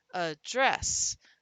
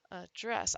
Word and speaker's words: address: And as we do that, the address or the address, the non-stressed syllable can become the schwa sound. So it's address, address.